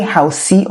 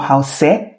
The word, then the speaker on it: house: house we don't say Housey or house we just pronounce house the E is silent so if you keep